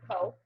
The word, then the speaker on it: Ceaux: Co. Yeah, and so I'm Adventures by Co, or Adventures with Co, and Co is spelled the New Orleans way of CEAUX.